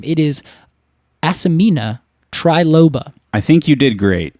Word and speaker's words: Asimina triloba: It is Asimina triloba.